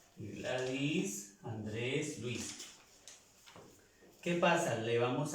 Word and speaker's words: Andrés: la diferencia las pronunciamos pero al final le hacemos una serie él al final y lo hacemos en la última sílaba ok sólo se pronuncia